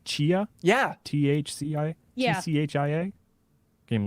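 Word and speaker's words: Tchia: playstation showcase but that game i think it's pronounced chia yeah t-h-c-i yeah c-h-i-a game looks cool yeah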